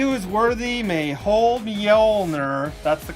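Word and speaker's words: Mjölnir: west only he was worthy may hold the ulnar that's the correct pronunciation so when you can't hold them anymore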